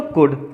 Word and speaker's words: could: ओ यू ल दी तो बच्चों ये ल जो होता है साइलेंट होता है इसको हम लोग मां